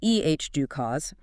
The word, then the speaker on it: EDUCAUSE: So, Edgic Cause, that's pronounced Eh, due cause.